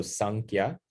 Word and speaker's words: Samkhya: So it's in the book, it's spelled with an M, but it can also, the way Sanskrit is written, it can also, you'll also see it written with an N as well.